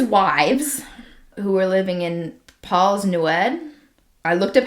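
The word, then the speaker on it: Plas Newydd: One of his wives who were living in Paul's Newed I looked up how to pronounce that it is Paul's newed.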